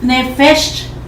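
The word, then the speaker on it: nephesh: Alma en hebreo quiere decir nefesh. Se escribe N-E-P-H-E-S-H, Nefesh.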